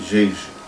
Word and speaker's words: Djedje: Definição de cargos sacerdotais em Jeje, ou como se escreve, de G, é assim que se escreve Jeje, Jeje.